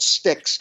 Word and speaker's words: Styx: the second one is called sticks which is spelled sty X everybody like the band and